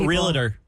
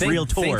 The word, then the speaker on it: realtor: oh yeah it's not realtor it's real Tor think of a touring band it's a real tour real Tor not a